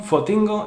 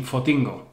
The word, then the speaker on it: Fotingo: Go, another influence from English, but the shortened, strange Canarian pronunciation, Fotingo. Ford T. Go, Fotingo.